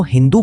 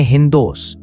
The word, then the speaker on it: हिंदू: उसी समय फारस, ईरान के लोग इस नदी को हिंदू बोलते थे। फारसी भाषा में स का उच्चारण कई बार ह की तरह हो जाता है। इसलिए सिंधु धीरे-धीरे हिंदू बन गया।